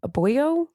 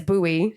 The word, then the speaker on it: buoy: A boyo? The word is buoy.